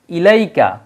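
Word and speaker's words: إليك: তখন কিন্তু ইয়ার হরকত চলে আসবে তখন ইয়ার উচ্চারণ হবে তখন যদি আমরা ইলাইকা শব্দটা লিখি দেখেন তখন এই যে লামের উপরে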